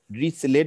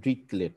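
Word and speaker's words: Dirichlet: দিচ্ছি এটা খুব ইম্পর্টেন্ট এটাকে বলে হচ্ছে কি রিসেলেট বলে অনেকে কিন্তু আমি উচ্চারণটা করবো ড্রিক লেট হ্যাঁ ড্রিক ড্রিক কারণ আমার প্রফেসর ড্রিক লেট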